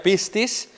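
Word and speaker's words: πίστις: La palabra fe que se pronuncia pistis significa fe, creer, confianza, confidente o fidelidad.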